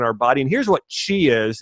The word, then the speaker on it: Qi: And here's what qi is. It's spelled Q-I.